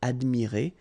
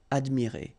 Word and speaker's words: admirées: You don't pronounce it, okay? So you get admirer, but still you should put it. And here you've got, well, first the feminine and then the plural S. Phonetically, it is the same, admirer.